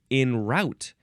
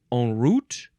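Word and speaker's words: en route: sound before the next word is you can pronounce it also in root or uh and root or on on Route um or in route on Route in N route in route because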